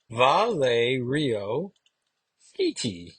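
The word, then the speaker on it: Valerio Schiti: which is cool there's a fun little name pronunciation Val Rio Sky that's how you pronounce it favorite ice cream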